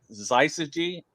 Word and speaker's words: Syzygy: So it's Syzygy, yes.